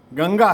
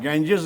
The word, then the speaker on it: गंगा: दुर्योधन है दुर्योधन है गंगा है गेंजेस नहीं है अब उनको बताएं तब